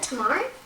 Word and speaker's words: Tamar: Is that how you pronounce it? No. Is that Tamar?